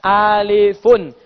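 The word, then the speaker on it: ألفٌ: Tapi Nabi tidak pernah mengatakan rumus alif. Yang Nabi katakan alifun. Alifun, tulisannya begini. Alifun.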